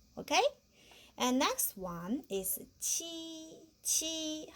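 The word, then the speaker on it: 七: And next one is qi. How to pronounce this? Qi. Qi, we also have the same pronunciation.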